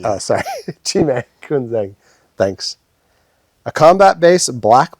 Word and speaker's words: Chhi'mèd: Chhi'mèd. Well, don't pronounce the D. Oh, sorry. Chhi'mèd Künzang.